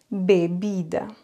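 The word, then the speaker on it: bebida: bodéga la cave vous vous avez remarqué bbida B c'est prononcé un peu plus fort bbida alors que le BI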